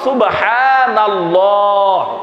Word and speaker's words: সুবহানাল্লাহ: একটু ঠিক করতে হবে, আল্লাহটাকে একটু মোটা করে বলতে হবে আকারটা বাদ দিয়ে। আবারও বলি সুবহানাল্লাহ।